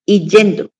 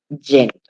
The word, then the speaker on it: yendo: La gente por lo general dice, "Y yendo, ya me estoy yendo para mi casa." Y construye mal, pronuncia mal ese gerundio del verbo ir. Lo correcto es decir yendo.